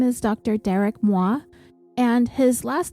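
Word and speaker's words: Mois: was only one, and the S is silent, so I have been calling him Detective Moi, like the French word for me.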